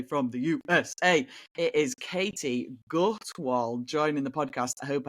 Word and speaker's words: Katie Gutwald: It is Katie Gutwal joining the podcast. I hope I have an absolutely hashtag pronunciation of your name.